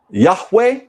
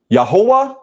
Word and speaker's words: Yahweh: The name of the Most High can be pronounced Yahweh, Yahweh, Yahweh, or Yahuah, Yahuah, yahuah, or yahuah, yahuah, yahuah.